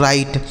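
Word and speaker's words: write: Next word है डब्ल्यू आर आई टी ई से पढ़ते हैं दोस्तों राइट। डब्ल्यू आर आई टी ई से पढ़ा जाता है राइट। यानी डब्ल्यू जो है साइलेंट होता है।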